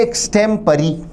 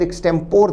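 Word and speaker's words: extempore: Answer है एक्सटेम्परी। आप इसके प्रोनाउंसिएशन या उच्चारण पर ध्यान दें। दिखने में शब्द एक्सटेम्पोर दिखता है पर इसका सही ब्रिटिश उच्चारण है एक्सटेम्परी, बिना पूर्व तैयारी के एक्सटेम्परी।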